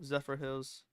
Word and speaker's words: Zephyrhills: it I said it right Hunter Zephyrs Hill Zephyr Hills Zephyrhills that's correct really Liam's from Florida so